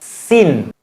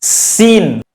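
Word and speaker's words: سين: Sa tanpa tanda hubung disebut sin. Tanda hubung di bagian atas dibaca sebagai apa? Sa tanpa tanda hubung disebut sin.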